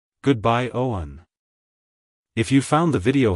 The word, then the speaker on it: Owen: meaning it's pronounced as Owen Owen Owen to pronounce it correctly emphasis the o sound and then smoothly transition to the one sound avoid emphasizing the W too much like hello Owen goodbye Owen if you found the